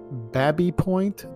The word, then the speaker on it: Baby Point: pronounced by locals as Babby Point, to rhyme with tabby or cabby, in an approximation of how James Baby pronounced his surname.